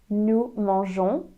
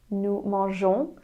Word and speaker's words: mangeons: Nous mangeons. Nous mangeons.